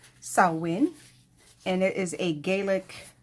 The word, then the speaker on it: Samhain: one and it's gonna be it's it's actually pronounced sawwin and it is a gaelic term um celebrated